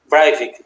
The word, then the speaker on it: Breivik: Em 2011, nós tivemos aqueles ataques em Oslo, na Noruega, né, que o Anders Breivik, alguma coisa do tipo. Breivik, obrigado pela me ajudar na pronúncia.